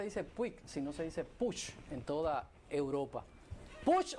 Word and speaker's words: Puig: En España no se dice Puig, sino se dice Puig en toda Europa.